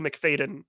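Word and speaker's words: Macfadyen: Golden Globe was Matthew mcfaden for or faten fadan yeah you had you said it right the first time um for succession uh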